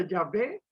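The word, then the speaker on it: Yahvé: leemos en la palabra jehová se pronuncia llave quiere decir el yo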